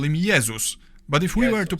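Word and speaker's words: Jezus: In Polish, we call him Yzus. But if we were to pronounce his name the English way, we'd write it down as Jesus.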